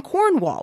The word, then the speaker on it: Cornwall: my wife is from cornwall where they do have roticity she says the r in cornwall i don't we've been living together